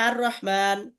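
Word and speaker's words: الرحمن: শুরুতে আলিফ লাম লাগাইছে, তাইলে লামের উচ্চারণ যদি হইতো আল রহমান হওয়ার কথা ছিল, কিন্তু যে র এটা হলো এইখানকার মধ্যে, এই 13 হরফের মধ্যে র থাকলে এর শুরুতে আলিফ লাম লাগলে কি হবে না, ওই লামের উচ্চারণ হবে না। এই জন্য এটা কি উচ্চারণ হয়, আর রহমান কি উচ্চারণ হয়, আর রহমান।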